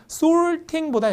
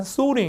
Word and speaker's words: sorting: 미국 사람들은 R 발음을 세게 발음하기 때문에 뒤에 있는 T 발음이 잘 안 들려요. 그래서 발음이 sorting보다 약간 sorting 이렇게 흘려주고요. 이게 영국 가시면 또 R 발음이 안 되고 T를 세게 하기 때문에 약간 sorting 이렇게 돼요.